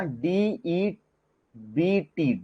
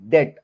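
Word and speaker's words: debt: डॉट में बन गया डी बीटी डेट अब डेट बोलते डेब नहीं बोलते इसको ठीक है डेट डी ई बी टी को हम क्या प्रोनाउंस करते हम डेट बोलते हैं अब आप लोग एक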